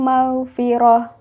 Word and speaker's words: maghfirah: Contoh, wallahu ya'idukum maghfiratan dibaca menjadi wallahu ya'idukum maghfirah.